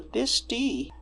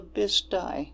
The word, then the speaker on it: Bisti: And there's a lot of local pronunciation around here that this poor narrator, Maria, she read the Bisti, but locally we say the Bisti.